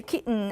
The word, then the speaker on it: kitten: So in number 1, you can say kitten and button. And then their environment is it's after a vowel before a syllabic nasal.